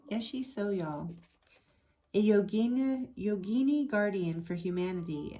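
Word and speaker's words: Yeshe Tsogyal: The supernatural tigress is believed to have been, oh, there's how they say it, Yeshi Soyal, right? Yeshi Soyal, a yogini guardian for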